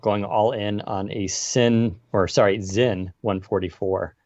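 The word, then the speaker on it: Sinn: I am thinking about going all in on a Zin 144. It's spelled with an S, but it's German, so it's pronounced with a Z. Zin 144, but we'll see.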